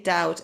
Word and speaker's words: doubt: choose chooses was um the pronunciation of doubt and debt without the b okay doubt and dead okay so